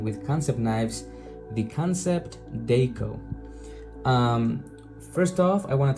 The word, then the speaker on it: Dako: Deco.